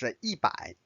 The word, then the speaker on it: 百: One is 100. Notice the fourth tone.